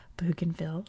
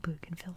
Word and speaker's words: Bougainville: So Bougainville is a victim of that. It's supposed to be Bougainville, but it's now Bougainville Island because it's British.